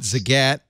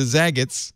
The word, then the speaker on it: Zagat: Google bought Zagat in 2011 for $151 million.